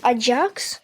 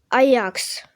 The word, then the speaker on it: Ajax: Е, оця ш оця штучка, да, оця штучка, е-е, там буква А і Дж і А е типу считається як аджакс, але считають, можуть казати аджакс, але правильно считається Аякс.